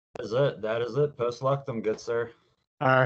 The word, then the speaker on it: Post Luctum: hanging out with Ian from, I think it's Post Luctum. Is that how you say it, or am I butchering it on you? That is it. That is it. Post Luctum, good sir.